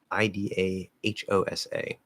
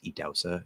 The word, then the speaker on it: Idahosa: uh from edause yes that's one way to spell it um i-d-a-h-o-s-a um i remember how to spell his name